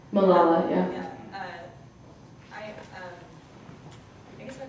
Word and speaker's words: Malala: Given the recent attack on Malala Yousafzai, if I pronounced her name correctly. Malala, yeah.